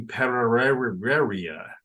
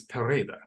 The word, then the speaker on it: Pereira: you will tell people, I am going to Pereira. That's the way it looks like it's spelled, but it's Pareda.